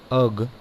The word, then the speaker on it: erg: 1 अर्ग, अर्ग इसको इंग्लिश में प्रोनाउंस अर्ग करते हैं, इक्वल टू 1 अर्ग